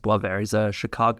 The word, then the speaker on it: Boisvert: It's spelled Boivert, but pronounced Boisvert.